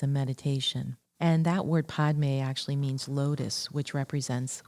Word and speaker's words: padme: Podme, two syllables. The first one, pod, is the syllable that dissolves our attachments to the many prejudices and judgments. And the may syllable helps to dissolve attachments